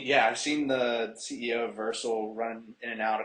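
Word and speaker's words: Vercel: so I've seen yeah I've seen the CEO versal running in and out a couple times which was cool um but yeah so I know it's pronounced versel only because uh I've heard them talking here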